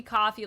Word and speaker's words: Ko-fi: It's fine if you want to pronounce it Kofi or Ko-Fi. I'm down with that, Kumatronicus. You're welcome here. We can say it any way we want. But it is supposed to be coffee, like, buy me a coffee.